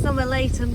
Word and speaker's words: Somerleyton: we keep cruising so this one is summer layton bridge you pronounce it like that and as you can